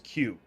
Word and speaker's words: queue: Like, my favorite one, for example, is queue. The word queue. Like, as in waiting in line. There are 5 letters for it. Only 1 letter's pronounced.